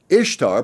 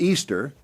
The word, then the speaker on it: Ishtar: historian will durant wrote ishtar pronounced easter interests us not only